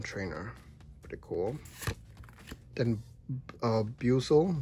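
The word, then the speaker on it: Buizel: pretty cool then uh Buel Buel buzzel I always forget how to say his name I think it's Buel right I love him I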